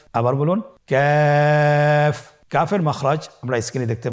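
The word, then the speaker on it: ك: কাফের মাখরাজ হলো জিহ্বার গোড়া থেকে একটু আগে বাড়িয়ে তার বরাবর উপরে তালির সঙ্গে লাগিয়ে উচ্চারিত হয়। তাহলে আমরা কফ যেখান থেকে উচ্চারণ করেছি একটু আগে বাড়িয়ে সেখান থেকে আমরা তার বরাবর উপরে তালের সঙ্গে লাগিয়ে হরফটি উচ্চারণ করব।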